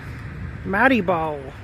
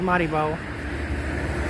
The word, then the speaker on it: Maribor: Maribor. Maribor. I think it's pronounced Maribor.